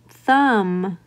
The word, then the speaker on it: thumb: So for example, in the word thumb, I do not sound out that B in thumb.